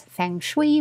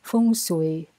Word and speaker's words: Feng Shui: takes from Feng Shui, which I hear being pronounced as Feng Shui by mostly Americans, but in the Philippines we say it as Feng Shui.